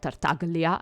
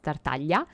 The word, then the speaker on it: Tartaglia: stuff it's like that it's not tartaglia it's tertalia so I don't but